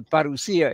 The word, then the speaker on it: parousia: as the parousia in Greek. And we're using the modern Greek pronunciation because that's the way Greeks understand it today and hear it.